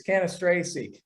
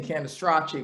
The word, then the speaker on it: Cannistraci: I'm respecting my father, R.I.P., and my Italian heritage, and saying Cannistraci because that's the Italian way of saying it.